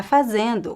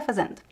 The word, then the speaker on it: fazendo: Fazendo, the last syllable almost disappears as well.